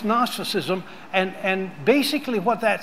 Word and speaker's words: gnosticism: false Doctrine called gnosticism you can't spell it um because it starts with a g but I'm just saying it's gnosticism and and basically what